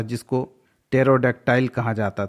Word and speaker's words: pterodactyl: Next, PTERODACTYLE, यहाँ पर भी P साइलेंट है। टेरोडक्टाइल, एक समय डायनासोर हुआ करता था, उसी समय एक उसी टाइप का एक अन्य जानवर हुआ करता था जिसको टेरोडक्टाइल कहा जाता था।